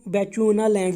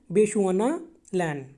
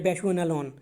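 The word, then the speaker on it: Bechuanaland: इसको बेचुआना लैंड नहीं बोलना है, बेशुआना लैंड या बेशुआना लॉन।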